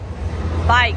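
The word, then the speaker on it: BAIC: is where it was bike that's how he pronounced it b-a-i-c so I'm gonna do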